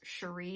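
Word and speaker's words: Cherie: think her i think her name is pronounced sheree it's c-h-e-r-i-e um i came across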